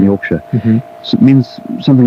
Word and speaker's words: Yorkshire: Shire, which is how it's pronounced if it's a word in itself, or sh, as in Yorkshire, so it means something like a county.